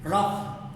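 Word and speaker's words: rough: फिर हम कहते हैं रफ, रफ में एफ साउंड है, आर ओ यू जे की स्पेलिंग है, स्पेलिंग में एफ नहीं आता, साउंड में आता है, ज़्यादा तब भी यही साइन यूज करेंगे।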